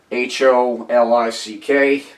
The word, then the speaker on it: Holick: It's spelled like it sounds, Holick.